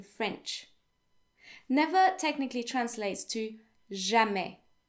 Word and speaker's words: jamais: Never technically translates to jamais, jamais. The S is silent, okay?